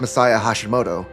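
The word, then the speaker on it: Masaya Hashimoto: The main man behind the original East duology was Messiah Hashimoto, a developer who formerly worked at Falcom before leaving following the release.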